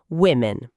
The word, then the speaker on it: women: Repetindo, women. Gente, a palavra tem um o na primeira sílaba. Por que a gente fala com som de i?